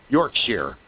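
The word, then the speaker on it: Yorkshire: It's sheer. It's pronounced shear. You know, Yorkshshire, not Yorkshshire.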